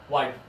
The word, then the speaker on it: wide: And that's just a 1-syllable word. This one is wide.